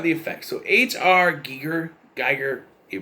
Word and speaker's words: Giger: you something about the effects so hr giger geiger you pronounce it he designed the creature for this